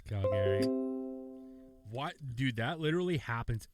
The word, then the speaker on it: Calgary: For all of you people that don't know how to pronounce the second A. It's Calgary.